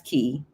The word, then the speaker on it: Quay: And it's spelled Quay. That's key.